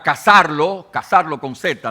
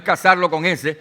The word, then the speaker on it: cazarlo: donde ellos iban a cazarlo con Z, ¿no? Lo que pasa es que no pronunciamos bien la palabra, pero es decir, no es cazarlo con S, sino cazarlo con Z, como si fueran animales.